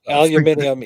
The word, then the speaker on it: aluminium: Aluminium is the way it is pronounced.